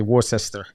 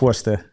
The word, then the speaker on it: Worcester: w-o-r-c-like cat e-s-t-e-r so a lot of people say War sister but it's Worcester yeah I come from